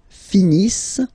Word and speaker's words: finissent: Ils finissent. So remember, as usual, when we get the verbs ENT not pronounced.